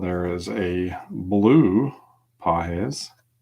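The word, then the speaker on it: Pagés: Got a light blue sparkle Andy Pahes. Pahes. some y'all corrected me last time I butchered his name and a Tristan Casus for the Red Sox.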